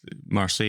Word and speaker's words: Marseille: Because it's Marseille is the location.